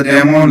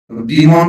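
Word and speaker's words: demon: एक तो ये था, दूसरा था द डेमोन लवर। डीमोन पढ़ते हैं कुछ लोग से, पर मैं आपको बता दूं इसका जो प्रोनाउंसिएशन है वो डेमोन है, और से लास्ट हिंदी में, सही हिंदी में।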